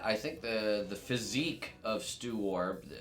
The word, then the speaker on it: Stoowarb: So a good way to remember how to pronounce Stoowarb is that the second syllable there is a riff on to warble, to sing. Stoowarb. Stoowarb.